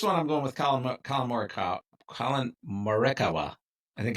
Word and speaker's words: Morikawa: First one, I'm going with Colin Morikawa. I think it's pronounced Morikawa.